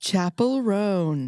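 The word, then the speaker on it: Chappell Roan: very wonderful pop star whose name is properly pronounced Chapel rone thank you I've been pronouncing her name all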